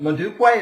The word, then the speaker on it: Modupe: Oh, and I should say for the audience, let's tell the audience your full name, which is Oh, uh, Modupe.